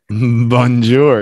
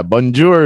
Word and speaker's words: bonjour: popular they're quite famous bonjour yeah bonjour is the English pronunciation of a French word that's right bonjour that's how my dad